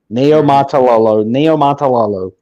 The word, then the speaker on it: Niumatalolo: I've always had a devil of a time trying to pronounce it. So it's Ken Ken, and then it's Niumatalolo.